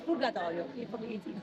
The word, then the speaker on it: Purgatorio: In Italian it's Purgatorio. Purgatorio.